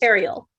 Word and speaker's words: Ariel: Ariel, like the mermaid.